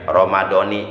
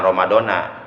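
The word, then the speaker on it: رمضان: Jadi kalau niat puasa Ramadan untuk tiap hari, kalimat Ramadannya dibaca Ramadoni, jangan Ramadona. Apalagi Ramadono, jangan.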